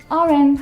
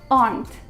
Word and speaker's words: aren't: wrong with my pronunciation aren't hungry it's wrong it should be they aren't they aren't there's only one syllable in it they aren't hungry they